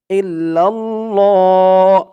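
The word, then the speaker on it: إلا الله: শব্দটাকে ল বলতে হবে আল্লাহ শব্দের ডাইনে জের থাকলে লা উচ্চারণ হয় আর জবর অথবা পেশ থাকলে ল উচ্চারণ হয় ইল্লাল্লাহ হা পেশ হু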